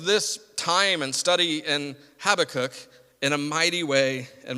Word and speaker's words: Habakkuk: I've always said Habakkuk, and other people say Habakkuk, and I asked the internet, and the internet told me that it mostly is pronounced Habakkuk, and I'm really going to try to do that this morning, but I'm probably just going to say Habakkuk, because that's what I've always said, probably because that's what